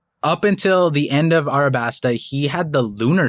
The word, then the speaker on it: Arabasta: of arabasta uh and I'm pronouncing it like most people say Alabaster but then recently there was like a correction that it's arabaster it's like Arab arabaster I haven't gotten the